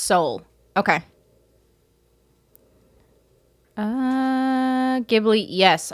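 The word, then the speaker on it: Seoul: to munch on Sonic Ice um oh it's pronounced Soul okay uh uh gibli yes all of them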